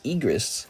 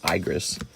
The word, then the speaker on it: Igris: You got Egress. It's Egress. Six tells me it's not pronounced egress and that it's actually pronounced Igris, but I like to tease her and say Egress.